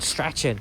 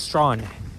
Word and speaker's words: Strachan: Remember, receipt is silent. It's not Strachan, it's Strawn.